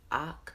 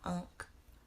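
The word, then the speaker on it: Akh: This one is pronounced Ak, not Unk. Ak.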